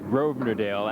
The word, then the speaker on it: Grosvenordale: when he comes by because grosvenordale actually has an s in there you'd never hear it if it's pronounced properly but long time ago